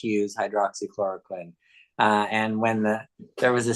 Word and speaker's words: hydroxychloroquine: Grace said, definitely ivermectin and hydrochloroquine. Hydrochloroquine. Is that how you say it? Hydroxychloroquine. Hydroxy. Okay, I couldn't remember.